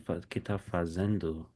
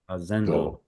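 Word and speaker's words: fazendo: You see the endu fazendu fazendu. Are the Are the vowels pronounced the same as in Spanish?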